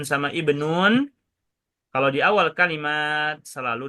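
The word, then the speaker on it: ابن: Bukan juga ubnu atau abnu, melainkan ibnu.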